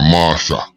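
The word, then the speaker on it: Marchand: Apparently this young man got shot at Arendelle in Marchland, or Marsha, how they pronounce it.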